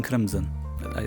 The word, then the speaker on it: CRiMSOM: It's called King CRiMSOM.